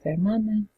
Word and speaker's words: hermana: So you can say una hermana. Remember in Spanish, no pronunciation of the H. So you're going to almost act like the H isn't there. Una hermana, un hermano, una madre,